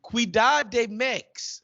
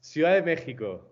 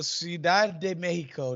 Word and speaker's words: Ciudad de México: Cuidad de Mex. Is that how they say it? No, not at all. No, Ciudad de México. Oh, there you go. Ciudad de Mexico.